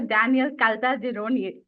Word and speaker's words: Caltagirone: Today we have with us British actor Daniel Caltagirone. Did I pronounce that right?